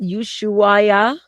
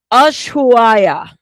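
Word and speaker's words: Ushuaia: Yesua. Okay. And the I I said it wrong. I butchered it. Pardon me. That's a place that I don't hear commonly. Ashua.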